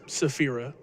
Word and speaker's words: Safira: Correction on that pronunciation for that first name. It's Safira. Safira, gotcha.